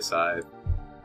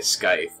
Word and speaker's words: scythe: see where you're coming you pronounce that side yeah I say side I used to say sky but then I think somebody corrected I I don't think it's that I didn't know Scythe side side or Scythe scye okay